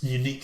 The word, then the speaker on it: Uni-Q: One of their top specification, like sort of unique selling points, is inverted commas, sit anywhere, close, unique Q sound. So I think it's supposed to be unique sound, but it's spelled UNI-Q sound. Unique.